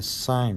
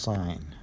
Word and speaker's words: sine: is what's called the sine ratio it's felt SI and I and E on a calculator it's just shorted shorted to SI n they don't call it sin it's pronounced sine and what the sign